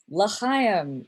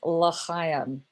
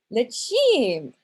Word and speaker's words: L'chaim: Only I completely mispronounced L'chaim. I pronounced it, oh, it's so bad, L'chim. Okay, over and over, L'chim, L'chim.